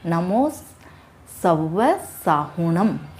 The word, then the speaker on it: सव्व साहूणम: सव्व को साथ में बोलेंगे क्योंकि दोनों शब्द साथ आ गए हैं, सव्व और साहूणम अलग। नमो सव्व साहूणम।